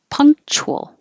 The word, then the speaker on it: punctual: wise aunt punctual or punctual or punctual or two syllables punctual punctual skills skills so it's very